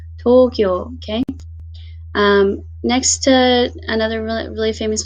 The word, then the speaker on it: Tokyo: is where you can really tell if you're pronouncing your your Japanese cities right but of course most famous one is Tokyo Tokyo so it's actually as a long sound